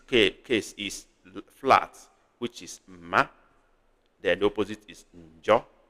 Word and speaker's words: mma: This same word can be pronounced as mma. Giving a low tone, it becomes knife. If you give a high tone, it becomes beauty, mma. But this case is flat, which is ma.